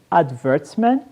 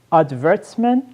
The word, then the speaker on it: advertisement: o sêmen é propaganda eu posso dizer adverte Man ou advertisement advertisement advertisement mesma escrita só a pronúncia que vai ser diferente adverte Man é uma pronúncia mais britânica advertisement a promoção mais